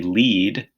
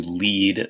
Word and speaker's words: lead: in I like to lead the class in an exercise, or it could be lead, which is a metal. Lead is found in the ground. It's an element, and it's also very poisonous.